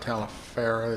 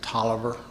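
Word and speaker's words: Taliaferro: It's not Talifer, it's Tolliver.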